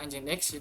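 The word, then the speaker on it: nginx: nama engine X itu karena awalnya itu Eng dalam bahasa Inggris itu dibacanya seperti ng gitu l huruf x juga tadi sudah saya jelaskan memberikan kesan modern dan inovatif dasar dari nama ini adalah huruf ng ng yang bunyinya seperti n ng dalam bahasa Inggris x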